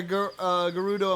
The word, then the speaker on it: Gerudo: On top of that, a Gerudo in black armor. I know I mispronounced that. So No, actually, that was correct.